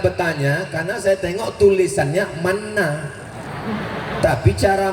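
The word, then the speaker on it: Manna: Saya bertanya karena saya tengok tulisannya mana, tapi cara membacanya mana.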